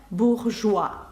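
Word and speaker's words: bourgeois: зараз ви бачите краще Чому це саме буржуа ні уа а саме уа спробуйте це вимовити саме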